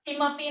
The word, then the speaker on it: Kimapi: When will come and mix into it, then only we can pronounce this word as Kim. Kima. So Kimapi na janami.